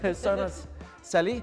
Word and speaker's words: Shona Sally: Okay, I've got Shona Sally. Did I say it right? That's correct. It's like seashells on the seashore. Yes. Okay, Shona Sally.